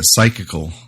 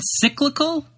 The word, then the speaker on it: psychical: Yeah, psychical nomadism. Psychical? You mean cyclical? No, like psych, like psychology, ICAL.